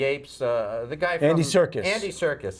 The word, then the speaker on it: Serkis: the guy circus Andy Serkis correct sir circ Circus Circus Circus ser K is okay not like circus like let's go to the circus difference about that same pronunciation same pronunciation all right very well